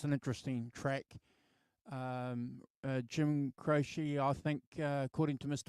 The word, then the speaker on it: Croce: But Croce is right. Croce. Okay, it is Croce.